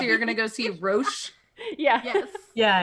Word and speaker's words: Roche: just like watch like it's ro CH e but I the way you pronounce that is Roach but maybe it's rooms Hawk wash like Ferrero Rocher kind of thing okay like a grocery